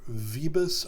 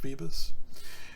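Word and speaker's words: Vööbus: So it says this is quoting from Arthur Vebus, I believe is the way you pronounce his name, although it's spelled Vubus. I could be wrong, but I have heard that it's pronounced Vebus.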